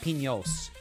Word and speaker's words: Pinos: s and I think the N has a little squiggly P Pinos I think it's a little squiggly n so it's Mount Pinos I think is the correct pronunciation of that I actually asked one